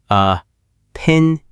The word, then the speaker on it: opinion: The word opinion has 4 parts. O, pin, I, on. The stress is on the second part. O, pin, in. That is a great tip. Opinion. The pin part is the loudest.